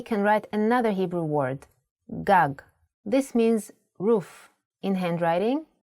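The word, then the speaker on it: גג: If you were to see this word written, you might want to read it as gug. There is no vowel sound. In Hebrew, the vowels are often not written. You would know that this word is pronounced gag because it has been taught to you before.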